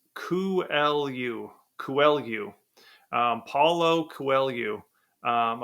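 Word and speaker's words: Coelho: kuu so Paulo kuu it's spelled c e l h o so I don't think I would have guessed that um uh it's Portuguese kelu kuu um Paulo kelu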